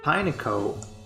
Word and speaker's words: Pineco: Pineco. They really just said Pinecone, just take one syllable out, Pineco.